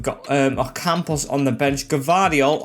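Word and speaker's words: Gvardiol: Gavardiol, or now I've learned after watching England, it's pronounced Guardiol in his nicknames, like the second Pep or something like that, is now in our defence.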